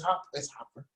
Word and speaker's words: Hopper: Did I say it wrong again? It's Hopper. Dang it.